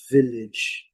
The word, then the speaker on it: village: né, é a palavra village, village, village. Trazendo aqui de novo, letra E não pronunciada, né? Village. Ela é rigorosamente igual à pronúncia, tanto no inglês britânico como no inglês americano.